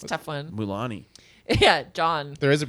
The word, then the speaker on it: Mulaney: I'm surprised I pronounced it right. It's a tough one. Mulani.